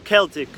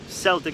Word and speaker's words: Celtic: I add sea salt, either Himalayan pink salt or Celtic or Celtic. I don't know. People pronounce it both ways.